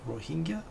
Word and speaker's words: Rohingya: please excuse my pronunciation I believe it's pronounced ro he Rohingya he pronounced it well he jaw with it like a.j but I read it as Rohan yep anyway but the